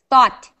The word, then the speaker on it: thought: that even though okay uh there's a th sound uh how do you say that food thought thought thought okay so even though this difference is only one letter though does not have a t at the end thought has a t thought basically